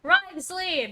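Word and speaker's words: Wriothesley: personal dealings with the administrator of the Fortress ryley he's a very shrewd fellow ryley that's how you pronounce his name hi Kratos yeah we heard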